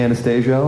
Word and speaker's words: Anastasio: fish fish um I uh am Trey Anastasio on guitar the oft mispronounced Anastasia Jo Michael Jordan and the our